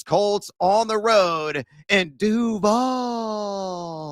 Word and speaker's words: Duval: on the road in Duval, as Liam Cohen pronounces it. It's still weird with that drag. Duval.